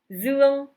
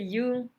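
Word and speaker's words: Dương: Comme mon prénom, Zuan. Par contre, c'est la prononciation dans le nord, Zuan, puisque dans le sud, c'est Yung.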